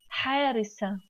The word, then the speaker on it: حارسة: But we don't pronounce ta. Could you notice that I didn't say حارسات? We pronounce ta if there is any word comes after and read them together in the same time.